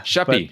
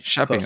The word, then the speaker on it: Schaeppi: I I believe so let's talk about Joe shapy is that is that a decent way to pronounce it that works she yeah sheppy sheppy all right I'll try that he's a Visionary